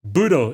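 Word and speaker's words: ブドウ: Portman too with groes because it's pronounced budo in Japanese you know amus and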